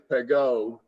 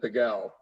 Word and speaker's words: Pegau: says or said Pegau, because the dialect in the Southern Rhone is that Pegau would be pronounced Pegau, but you have traveled the world and you speak it, you pronounce it the way they would in Paris, which would be Pegau.